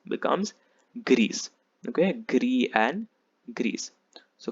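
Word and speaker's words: grise: s is silent gree the feminine gets an e so you have to pronounce the s becomes greece okay gree and greece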